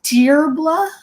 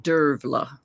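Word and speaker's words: Dearbhla: to butcher her name is it diblah or is it dear blah I used to think of her as dear blah but the actual Irish pronunciation is Dera Dera okay would call derla yeah okay well she's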